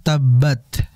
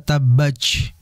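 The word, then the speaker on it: تبّت: Tadi ayat pertama tabbat, jangan dibaca tabbaj.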